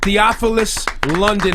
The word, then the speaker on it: Theophilus London: morning give it up Theophilus London is how you say his name now Theo London Theo